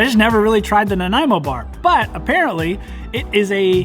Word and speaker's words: Nanaimo: talking about the nanaimo bar and it is pronounced nanaimo bar not nanaimo or nanemo or nanaimo it's nanaimo bar these generally come out on a platter and